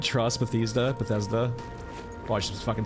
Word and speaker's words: Bethesda: Bethesda's always been trying to get this off, like, Bethesda has so ill, like, people do not trust Bethesda.